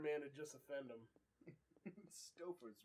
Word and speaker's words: Stouffer's: Stouffer's rhymes with stuffer, right? And stove.